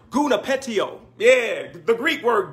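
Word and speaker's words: γονυπετέω: kneel it is a Greek word that is pronounced guna petiole yeah the Greek word guna pet tio kneel down from where we get our English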